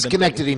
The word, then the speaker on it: Schenectady: It's Schenectady, New York, and that's how it's spelled.